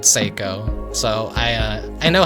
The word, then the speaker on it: Saeko: So, something I'm very embarrassed about was when I played the demo, I pronounced it Seyo. My first instinct was like, "Oh, psycho." Saiako, like psycho. And I was like, "No, no, no, no. I'm probably like saying it wrong." And so I said Seiko.